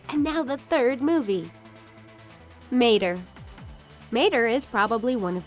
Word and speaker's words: Mater: If you struggle how to pronounce his name, here's how he explains it, like Mater, but without the "ta."